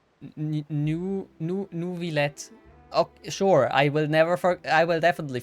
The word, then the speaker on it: Neuvillette: with due reverence, we have the absolutely just and honorable Chief Justice Neuvillette. Oh, okay, I have to remember this pronunciation. Neuvillette. Neuvillette.